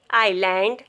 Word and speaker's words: island: Isle, debris, island, isle, islet. Rule of silent letter T is before CH.